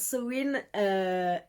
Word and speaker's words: Samhain: C'est la catégorie où il faut lire des livres avec les mots-clés Halloween, Samhain, ça s'écrit sa main, mais ça se prononce Samhain, et l'automne, évidemment.